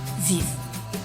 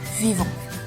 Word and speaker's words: vivent: إذا لاحظتم ديك e n t à la fin du verbe vivre أو ديك e n t اللي في النهاية ديال le verbe vivre ما كنطقوهاش يعني ما كنقولوش شي vivant كنقولو vive. il vive و elle vive.